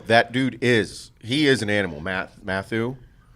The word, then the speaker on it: Mathieu: Mathieu. Is that how you say his name? Matthew? Is it just Matthew?